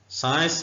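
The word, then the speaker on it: science: उनकी examples साइंस साइंस में सी साइलेंट है उर्दू में भी ऐसे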